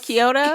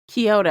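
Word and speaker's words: Kiata: The only pronounced Is that Kyota? There's no O in it. Oh, Kyota. K I A T A. Kyota. I think that's how the the narrator pronounced it.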